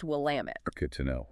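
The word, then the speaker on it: Willamette: That street name, Willamit, it's pronounced Will Lamit. Good to know. Will Lamit.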